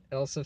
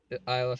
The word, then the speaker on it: Isla: Rebel Wilson's in this, and I don't I might be saying her first name wrong, but Isla Fisher, Elsa Fisher. No, not Elsa. It's Isla Fisher.